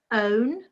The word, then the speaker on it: own: own drown Brown Town own drown Brown town now what do you think what's the different pronunciation here which word is different okay well done if you said a own has a different pronunciation to the others and again a good